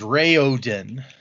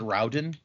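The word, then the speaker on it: Raoden: It is Ray Ooden. Is Rayoden. I in my head I always said Raen, but apparently it is Ray Ooden.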